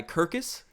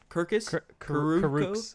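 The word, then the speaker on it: Kurucs: But his ability to drive down low, guys like, how do you pronounce the guy? Kirkus? Karooks. I think they were calling him Karooks. Yeah, Karooks. This man's had 5 fouls within, I feel like, 3 minutes of this game.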